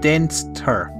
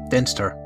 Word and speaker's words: Dinther: So it's pronounced Dinster. Dinster. Okay, so is that like German pronunciation?